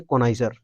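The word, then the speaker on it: connoisseur: हालांकि ये पढ़ेंगे कोनाइजर, क्या पढ़ते हैं इसको? कोनाइजर। लेकिन हम पढ़ते हैं कोनो, तब लिखते हैं CONNO कोनो, उसके बाद COR ISSEUR, है ना?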